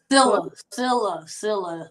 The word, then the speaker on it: Sillia: Sillia. The last I is silent, so it's pronounced Sillia.